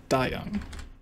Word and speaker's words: Dayoung: I think it was spelled like Day Young, but it was pronounced Dayoung.